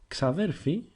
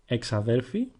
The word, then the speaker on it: ξαδέρφη: Xaderphi is feminine, and like the word xaderphos, there are three ways you can hear it pronounced. Exaderphi sounds a bit too formal, and xaderphi or xadelphi is the way you will most likely hear it.